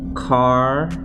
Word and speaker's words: Carnell: It's actually pronounced Carnell.